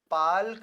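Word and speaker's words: Palk: इसको पाल्क जलसंध कहते हैं। क्या बोलते हैं? पाल्क जलसंध। कभी-कभी एल साइलेंट होता है तो इसको पाक जलसंध भी कहा जाता है।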